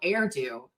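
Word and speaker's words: Erdő: uh, uh, uh, Cardinal Erdo rhymes with hairdo from Hungary.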